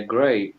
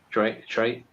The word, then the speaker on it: Trey: first of all uh gray um your name is your name here is gray no or I didn't say it correctly or something Trey Trey um yeah yes what